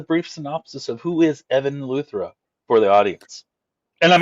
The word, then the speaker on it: Evan Luthra: Can you give us a brief synopsis of who is Evan Luthra for the audience? And am I pronouncing the name correctly? Yeah, Evan Luthra is good.